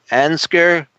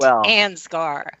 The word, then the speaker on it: Ansgar: We have with us our old friend and associate, Diane TESSMAN, out there in Ansger. Am I pronouncing that correctly? Ansger, Iowa? You've left off the saint, Tim. Oh, it's Saint. Ansgar.